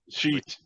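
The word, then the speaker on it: Shiite: The hijackers demanded the release of 17 shite Muslim prisoners held by Kuwait, and shite is spelled with 2 I's in that one, okay? Sheet. Yeah, but it looks like shite.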